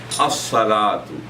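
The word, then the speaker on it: الصلاة: As-salatu. The letter sad is pronounced twice. Az-zakatu.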